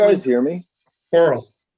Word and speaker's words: Korell: Coral. Like coral reef.